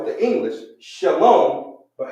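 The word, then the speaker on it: שלום: But do you know how to actually say that in the Hebrew? And better yet, write it. So it would be enunciated. Shalom.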